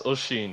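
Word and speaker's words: Oisín: it oh it's about o i s i n and I don't want to butcher it all right uh that's oen yeah that's an Irish okay oen I thought it was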